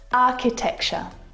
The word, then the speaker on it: architecture: some earrings architecture architecture this one is so often mispronounced a like in cat architecture it's not the same ch sound that you hear in words like chocolate and cheese it's a k sound and there are quite